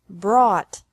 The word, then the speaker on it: brought: This can be spelled O-U-G-H-T or A-U-G-H-T, but the pronunciation is the same. Bring, brought, brought.